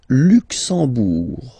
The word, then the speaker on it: Luxembourg: Le Luxembourg, okay, final G not pronounced, and then when you combine this M here, you get the sound en. You don't pronounce the M at all, it's this nasal en, okay?